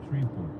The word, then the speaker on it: Shreveport: Shreveport.